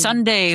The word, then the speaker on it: Sundae: But it's Ooh, Sunday like spelled like an ice cream sundae.